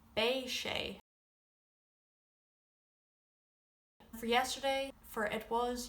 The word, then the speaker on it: beidh sé: For tomorrow you would say bay.